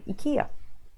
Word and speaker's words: IKEA: to some of them Sweden you might want to go akia just to make the